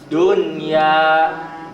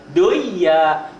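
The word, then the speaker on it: دنيا: Kinwanun, sinwanun, dunya, bunyanun. Tidak boleh kiwanun, siwanun, doya.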